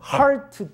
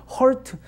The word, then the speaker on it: heart: 이거 발음 잘못하면 hurt to hurt가 되면 이제 곤란합니다. 우리 안에 있는 이 상처를 갖다 또 단에 전해줄 수도 있어요.